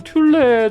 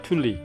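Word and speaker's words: Thule: 지금 요거 애프터마켓용은 튤레 정도에서 나오는 걸로 알고 있어요. 참고로 이 북미 지역에서는 튤레라고 안 하고 튤리라고 합니다. 튤리. 피날레도 피날리라고 하잖아요. 그런 뜻이 그렇게 발음하는 것 같아요.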